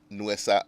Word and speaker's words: Nuesa: So my guest for this afternoon's show is Akosia Sechi Ejekum, who is also the CEO of Nuesa Shoes.